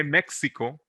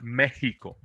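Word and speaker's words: México: We don't say Mexico, although we have an X, it's Mexico.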